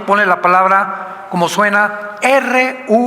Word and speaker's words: Ruach: la palabra, como suena, R-U-A-C-H, Ruach, que es la palabra hebrea que significa espíritu, y se pronuncia la CH en el hebreo como J, Ruach, Ruach, como J, Ruach.